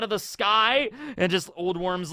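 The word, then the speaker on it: Ole Worm: looked him up and I guess that is how you pronounce his name I mean it's probably like an old Latin way to pronounce it but I'm just gonna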